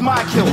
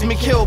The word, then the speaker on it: Mikill: you could easily pronounce m i k i l L's my kill say my name right I'm stressed and I might kill I bet you still think it's Mill but I've enlightened you